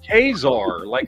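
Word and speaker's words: Ka-Zar: It's Kazar. There's no other way to say it.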